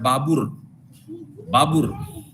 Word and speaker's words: Babur: Uzbekistan میں ازبک لوگ جو ہیں وہ بابر کا پروننسیشن کرتے ہیں بابر، اور وہ بابر لکھتے ہیں، وہ پروناؤنس کرتے ہیں بابر.